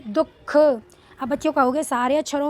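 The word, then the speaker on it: दुःख: दुख मतलब हल्का सा साउंड द के बाद में ही ह का आता है इसमें।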